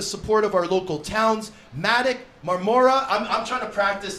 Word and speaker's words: Madoc: It's Madoc, Marmora. Okay. You'll learn those pretty quickly. Madoc, Marmora.